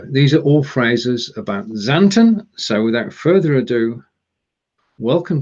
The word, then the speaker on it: Xanten: Xanten. Xanten. Xanten. Oh, we tried this before, and my pronunciation is going to be close, possibly.